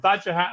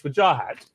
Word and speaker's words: Wajahat: it, and you told me how your mother pronounces it. We finally got there. After a year of Vajahat and Wajahat, it's Wajahat, and I apologize for not getting this right.